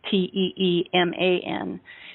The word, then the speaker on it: Timon: He, his name is spelled Timon, but it's pronounced like Teeman, and he calls himself a Sentry Recruiting Officer.